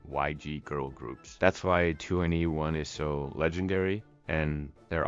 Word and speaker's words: 2NE1: 2NE1 is pronounced similarly to anyone in English, emphasizing the group's appeal to everyone, regardless of background.